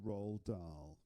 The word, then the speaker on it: Roald Dahl: The next word, so we've just covered rolled, that rhymes with goats and go. Then comes dull, dull. Right? Let's watch that again. The Umbrella Man by Roald Dahl.